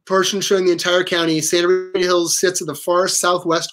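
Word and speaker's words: Sta. Rita Hills: It's an old school abbreviation of Santa. So Sta Rita Hills is actually pronounced Santa Rita Hills as you look at that.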